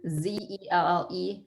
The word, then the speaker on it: Zelle: Don is asking, can we add sell, or I don't know how to pronounce it, sell, Z-E-L-L-E, through our bank?